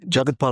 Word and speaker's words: Jagathpal: And Jagathpal, I said it right.